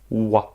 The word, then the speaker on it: は: avons d W attention ce Cana s'écrit ha mais il va se prononcer W des ce pourquoi est-ce qu'il se prend et pas ha parce que c'est une particule grammaticale bon pour l'instant nous